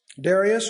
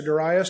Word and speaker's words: Darius: three Persian kings Cyrus Darius or Darius depending how you want to pronounce it and Arctic Xerxes those